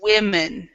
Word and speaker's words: women: with the this word we would say pronounce that women women women yeah and this is a very common mistake women in developing countries